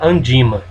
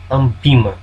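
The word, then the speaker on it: ANBIMA: Um dos links é o link da Andima, que concentra todas as notícias sobre esse mercado. Ambima, a pronúncia correta.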